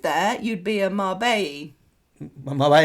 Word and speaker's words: Marbella: Marbella. It sounds weird because the double L, you'd pronounce it with the Y. So if you were saying that in English, it would be Marbelli.